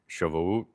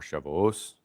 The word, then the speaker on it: Shavuot: So it's what we have Makos or Makot, Sanhedrin, Shavuot or Shavuos, depending on your Ashkenaz or Sephardic, right? How you're pronouncing this stuff, right?